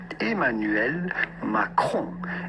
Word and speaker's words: Emmanuel Macron: So how do you go about pronouncing his name with the typical French pronunciation? Emmanuel Macron.